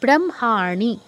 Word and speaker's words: ব্রহ্মাণী: তারপর ব্রহ্মাণী, ব্রহ্মাণী, বটা বাংলা ব, হয় ম, যুক্তাক্ষরটা ভাঙলে কিন্তু ম আগে উচ্চারণ হবে, হ পরে উচ্চারণ হবে।